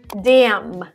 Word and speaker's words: damn: the first column actually there is a certain rule that you can memorize when n comes after m at the end of the word you don't pronounce the n some examples to make this clear autumn damn so it actually ends with an n but you don't pronounce it it's my entire column